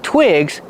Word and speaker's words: twig: You need a lot of twigs to start a fire. They work great for that. Twigs. These are twigs. Pronunciation. Use the short I sound like this is.